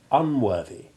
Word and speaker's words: unworthy: More complicated still are the words deriving from worth, for while worthless and worthwhile retain a soft th sound, it becomes hard in worthy and unworthy.